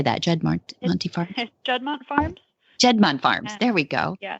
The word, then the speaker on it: Juddmonte: Juddmonte Farms.